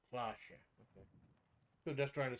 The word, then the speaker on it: Cloche: Cloche is pronounced Cloche.